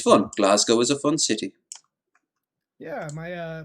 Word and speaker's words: Glasgow: born in glasgow now you have to say it right it isn't glasgow because it sounds like you're saying glass cow you say that good